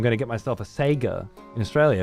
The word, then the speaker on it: Sega: A good one is Sega. I know it's Sega, but it's always been Sega here, and it will always be Sega here, as far as I understand.